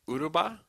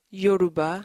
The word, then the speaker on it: Yoruba: So you can speak Uruba? Yoruba.